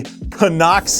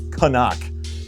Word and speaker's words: Cnoc: It is Cnoc. It is not Cnoc. It is not Knock. It is Cnoc. And that's how it's pronounced.